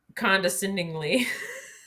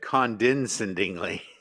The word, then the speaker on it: condescendingly: top would be condescendingly no he said condensatingly condensingly no there's an end after the first e when he said it he said condensatingly condesconde can't even say it wrong i thought it was like he was saying descend and it condescended that's how you normally say it he was saying condescendingly yeah right like condensation